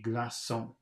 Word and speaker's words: glaçon: Because Okay, if the letter C without a cedille is followed by an E or an I, it's pronounced like an S. Followed by an E or an I. And this next word, it's got the little hook on it, so it has to be glaçon.